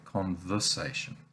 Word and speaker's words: conversation: becomes uh we say conversation now this is the english unstressed vowel the schwa as it's called marked